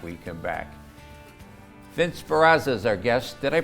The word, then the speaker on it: Sperrazza: Vince Sperrazza is our guest. Did I pronounce that correctly? Yes. Sperrazza is our guest, and we're talking about the Adirondack Railroad.